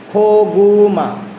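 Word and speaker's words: 고구마: যদি আমরা উদাহরণস্বরূপ দেখি এই যে এখানে দেখেন খো গোমা প্রথমে বসছে খ উচ্চারণ হইছে পরে বসছে গ উচ্চারণ হইছে খ গুমা অর্থ হচ্ছে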